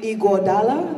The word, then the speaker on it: Iguodala: And there was a gentleman by the name of Andre Iguodala.